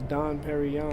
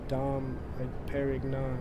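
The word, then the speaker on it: Dom Pérignon: ] will repair you I used to think it was dawn perry on until I realized it was dom perignon is it was dawn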